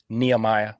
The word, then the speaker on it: Nehemiah: neemia am I saying that right six Neah Nehemiah how do you say it Nehemiah Nehemiah uh then we have harod and the